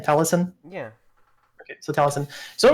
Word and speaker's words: Taliesin: Is that how you pronounce the name, Taliesin?